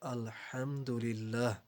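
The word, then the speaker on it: الحمد لله: উচ্চারণ করি তা হলো আলহামদুলিল্লাহ এই শব্দের অর্থ হলো সমস্ত প্রশংসা আল্লাহর জন্য এখন আমরা অনেকেই ভুল করে আলহামদুলিল্লাহ পাতলা হা এর জায়গায় মোটা হা ব্যবহার করে বসি তখন শব্দ টি হয় আলহামদুলিল্লাহ।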